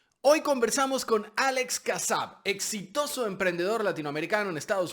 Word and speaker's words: Kassab: Alex Kassab, se pronuncia así, Kassab, ¿no?